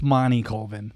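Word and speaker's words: Monty Colvin: I contacted Monty culvin it's Monty culvin the way he pronounces it and he has a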